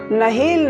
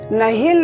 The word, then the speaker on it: نہیل: دیکھ رہے ہیں اسلامک نیم۔ آج کا ویڈیو نہیل نام کے متعلق ہے۔ اس نام کے متعلق پوری تفصیل سے جاننے کے لیے اس ویڈیو کو آخر تک دیکھیں۔ نہیل نام یہ نام لڑکوں کے لیے خاص ہے